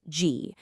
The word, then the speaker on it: 机: It's pronounced G.